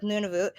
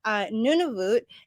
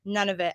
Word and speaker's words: Nunavut: to it and then nunavut is i used to pronounce it none of it and a lot of people still do so it's almost like